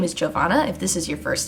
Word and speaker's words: Giovanna: case you were curious, my name is Giovanna. That is how you say it, not Giovanni.